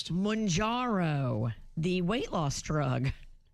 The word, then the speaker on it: Mounjaro: That's a Mounjaro.